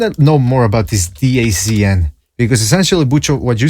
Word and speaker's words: DAZN: It's pronounced DAZN. It's what? That's what it says on Wikipedia. Hold on a second. All right, so there we have it. I heard some people call it dance sports.